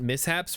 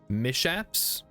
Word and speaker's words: mishaps: ready room preferred setup why isn't mishaps pronounced with a sh mishaps we've had some mishaps